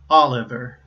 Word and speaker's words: Oliver: finally my family name my last name is Oliver that's three syllables and you see that the second two syllables the last two syllables I should say right those both begin with consonants and the previous syllable